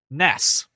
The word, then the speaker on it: NES: by uh Nintendo as being said and pronounced Ness just letting that happen it's wrong but whatever it was the Nintendo